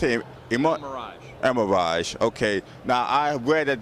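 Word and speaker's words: Elmiraj: I'm at Cadillac with David Leone from GM, and this is a concept car for the, how you pronounce it? El Miraj. El Miraj.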